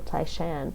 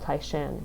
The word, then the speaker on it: Taishan: of them were from Tai Shan what's modern Lee called tycion yeah that that's the Mandarin pronunciation of the place and so just say Tai